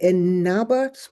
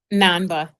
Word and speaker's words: Namba: And I think that when I read what you've done, and please forgive me, is it Inaba? Please tell me how to pronounce that. Namba. Namba, thank you, Namba.